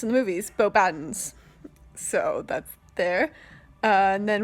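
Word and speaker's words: Beauxbatons: She also played the another giantess, the headmistress of, as it's pronounced in the movies, Bo Baddens.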